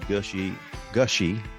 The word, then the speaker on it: Gushee: For those of you who are regular listeners, I just interviewed David Gushee.